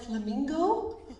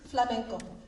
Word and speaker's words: flamenco: this morning it's called and um it's called flamenco there are many people who mispronounce it and call it flamingo or for glorico but it is flamenco here we have a map of spain bo